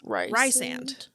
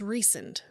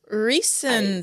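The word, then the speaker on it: Rhysand: you say his name so it's spelled r h y s a n d which you would think is Rand it's not it's recent recent hate it I do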